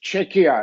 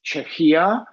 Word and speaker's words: Czechia: correctly pronounced in English it is with K as in a cat and as in the word check or Czechoslovakia because I often hear some people checks pronunciated as CIA which is not um